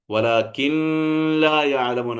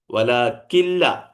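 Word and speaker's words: وَلَٰكِن لَّا يَعْلَمُونَ: വലാകിൻ ലാ യഅലമൂൻ എന്ന് മണിക്കാൻ പാടില്ല. വലാകില്ല, കില്ല എന്നേ പറയുള്ളൂ. കെസ്റുള്ള കാഫിന് ശേഷം പിന്നെ എന്തേ ഉച്ചരിക്കുള്ളൂ? നൂൻ ഉച്ചരിക്കാൻ പാടില്ല. പിന്നെ എന്താ ഉച്ചരിക്കാൻ പറ്റുള്ളൂ? ഷദ്ദുള്ള ലാമേ ഉച്ചരിക്കാവൂ. വല കില്ല, കില്ല കില്ല എന്നേ ഓതാവൂ.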